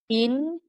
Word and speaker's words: Yin: Yin and Yang. Y I N. Yeah. Why? We we crazy Americans call it ying and yang.